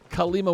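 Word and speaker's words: Kalima: Kale Lima with a K.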